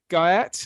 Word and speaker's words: Guyatt: Um and the last name is Guy. Like the guy at the porter's lodge.